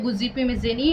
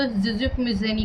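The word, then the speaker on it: Giuseppe Mazzini: तो इनमें एक फेमस जो आपके क्रांतिकारी होंगे, जिसे हम इंग्लिश में उसका वर्जन है गुज़िपी मिज़ेनी और हिंदी में उसको ज़िज़िप मिज़ेनी कहा जाएगा। तो मतलब है वो एक ही, बट थोड़ा सा प्रोनाउंसिएशन में थोड़ा डिफरेंस है।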